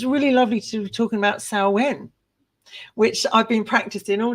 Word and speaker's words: Samhain: things so it's really lovely to talking about saen which I've been practicing all day s s s because most people do pronounce it samh and of course it's not it's s um